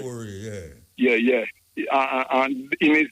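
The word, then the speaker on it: Traoré: Can you please pronounce his last name, Muta, the South African president? Traore name. Yeah, Ibrahim Traore. Traore, yeah.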